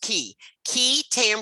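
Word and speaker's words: qui tam: within this law the key tam provision, and this is pronounced QUI, is pronounced key tam provision, also known as the Whistleblower Statute.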